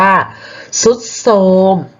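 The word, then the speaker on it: ทรุดโทรม: อ่าน มา ไร เอ่ย เปลี่ยน ทร เป็น ซอง ก็ คือ คำ ว่า ทรุด โทรม นะ คะ ทรุด โทรม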